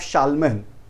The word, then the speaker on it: Charlemagne: The Frank people developed their empire under leadership of Charlemagne. It was written as Charlesmen. While spelling, they are writing out Charlesmen, but they are the name of that person pronounced as Charlemagne.